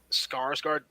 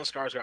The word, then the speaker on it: Skarsgård: Skarsgård? Is that how you say his name? Stone scarred. Stellan Yeah. Skarsgård, yeah. Stellan Skarsgård.